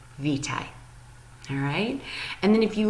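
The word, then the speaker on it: Witaj: pronounce it if you look right here they pronounce this word VI so to say hello and polish you say vitae alright and then if you look at their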